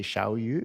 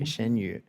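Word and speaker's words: Xianyu: platform called idle fish I am I pronouncing it right when if I say shiau is that Shen shenu okay shenu um and it does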